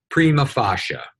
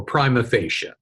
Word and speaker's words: prima facie: about is the term prima facie or prima facie it's pronounced both ways you probably don't know